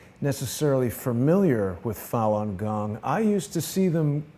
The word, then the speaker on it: Falun Gong: I'll share with you like you say what Falun Gong is it's a simple spiritual meditation Jason it